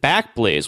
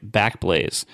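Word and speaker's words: Backblaze: week once again by back Blaze uh which I still pronounce sometimes in my head as back blaz because I think it sounds fancier but God anyway they're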